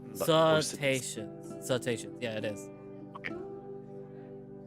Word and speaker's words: cetaceans: Cetaceans.